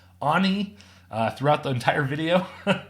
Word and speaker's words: Ani: was like it's pronounced Anie and do not pronounce it like Annie like I was so